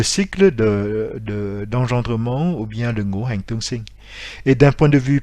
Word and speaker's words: Ngũ Hành Tương Sinh: Donc je vous rappelle, le cycle d'engendrement, cela s'appelle Ngũ Hành Tương Sinh, c'est-à-dire le cycle de naissance, Sinh, de naissance mutuelle, donc Tương Sinh, des 5 éléments.